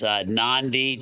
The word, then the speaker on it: NONDI: got to name as NONDI, to the chagrin of some people, but that's non-dependent, but it has a long E over the E, so it's very difficult